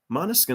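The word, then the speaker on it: Måneskin: are real or not so monaskin is pronounced okay Mona skin is that better da Mona skin Mona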